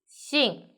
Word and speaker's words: 姓: The word of the day is Xìng. In this video, I will teach you how to pronounce it, how to write it, and how to use it.